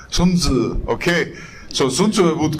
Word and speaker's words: Sun Tzu: How to pronounce it? Sun Tzu. You sure? Sun Tzu. Sounds like Beizi. No, Sun Tzu.